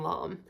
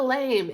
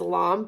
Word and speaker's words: lame: I'm like it's a lame and then we looked it up and it says the pronunciate pronunciation is long but I still feel so weird saying that but you want to